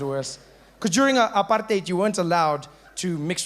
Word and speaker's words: apartheid: that sounds nice doesn't apartheid notice how we say it like that these days apartheid it sounds like something you got on your shoe ooh cut some part